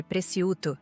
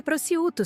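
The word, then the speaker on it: prosciutto: Fernanda fez questão de corrigir minha pronúncia de preciuto na frente do garçom. É prouto, sogra. O c é mudo.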